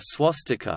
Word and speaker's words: swastika: IAST transliteration system, but is pronounced closer to swastika when letters are used with their English values.